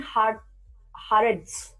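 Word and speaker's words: הארץ: Name of God, Adoni Haaretz. Adoni Haaretz. So please help me in the pronunciations.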